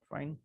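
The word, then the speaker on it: phi: তো ফাই অফ এটার উচ্চারণটা আসলে এভাবে করে। ফাই পি এইচ আই পি এইচ আই।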